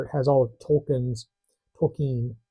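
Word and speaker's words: Tolkien: has all of Tolken's Tolken my wife always corrects me when I say Tolken she means you mean Tolken she's an audio book producer so correct pronunciations especially of author's names is very important to her so Tolken's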